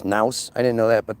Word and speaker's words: nous: I know what the nous, I didn't know it was rhymes with mouse, nous.